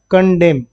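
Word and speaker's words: condemn: इसको क्या पढ़ना है? कंडेम। कंडेम। बस।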